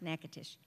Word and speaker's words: Natchitoches: of Natchitoches, which is spelled Natchitoches, but it's pronounced Natchitoches.